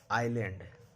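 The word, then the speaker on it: island: एस कब silent होता है? अगर एस के पहले आई हो और एस के बाद एल हो। देखिए एस के बाद क्या है? पहले आई है। बाद में क्या है? एल है। एस के पहले क्या है? आई है। एल है। तो एस का उच्चारण नहीं करेंगे। इसको पढ़ा जाता है आइलैंड।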